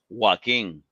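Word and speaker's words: Joaquin: as well he was also amazing who I'm Jacob Phoenix that's not how you pronounce the name how do you pronounce it walking yes okay I mean what you're definitely going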